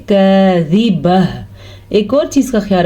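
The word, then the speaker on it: كاذبة: باریک کاف ہے تو اس کو باریک ہی پڑھیں گے، زال کو لمبا نہیں کریں گے، زال کے نیچے زیر ہے، با پہ زبر ہے تو لمبا نہیں پڑھیں گے. البتہ وقف کی وجہ سے گول تا ہا بن جائے گی تو اس کو ہم پڑھیں گے کاذبہ.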